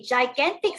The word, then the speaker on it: gigantic: Okay, gigantic sounds like the word giant.